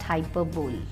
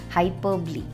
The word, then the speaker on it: hyperbole: repetition onomatopoeia alliteration hyperbole it's not hyperbole it has to be pronounced as hyperbole tautology antithesis personification so